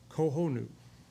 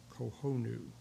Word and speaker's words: Cojonu: But anyway, uh it is a Tataway reserva kohonu. C O J O N U. Kohonu. I think that is the proper way to pronounce that.